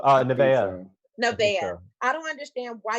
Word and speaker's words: Nevaeh: How can you be rude to, how do you pronounce her name? Navia? Oh, Nevaeh.